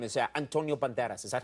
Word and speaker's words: Banderas: your name cuz even your name is Antonio Banderas is that how you say I'm Tony one minute and you want it all together let the date they pronounce it Banderas give me they give me an award in